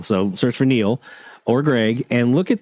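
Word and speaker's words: Niel: You can search for Greg or Neil, which is spelled N I E L. So, search for Neil or Greg and look at their programming notes.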